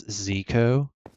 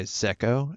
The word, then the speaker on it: Zecko: So, I've heard some people say my name as Zeeko, and I go by Zecko, as in like an echo.